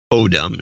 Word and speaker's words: Odom: Odom is, yes, I got that, I think, is the correct pronunciation. Since you seem to mispronounce wrong again. I think it was autumn last time.